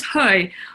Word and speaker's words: Hui: to say it yes my surname is hoi although I actually mispronounced it myself till I was older and learned Cantonese so it's fantastic thank